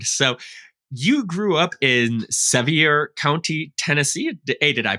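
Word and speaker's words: Sevier: and your background so you grew up in seier County Tennessee a did I pronounce that right and is that correct it's severe County and Brian's actually the local I didn't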